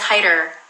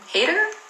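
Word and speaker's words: Haider: Somebody says they were pronouncing Hyder's name wrong. Yeah, it's Hyder. Hyder. I don't know how you would... Hater? It's Hyder.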